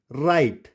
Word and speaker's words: write: W is silent if word begins with WR। अगर word WR से start होगा तो वहां पर W साइलेंट हो जाएगा। जैसे WRONG, it's wrong, WRITE, राइट, WRAP, रैप, और इसको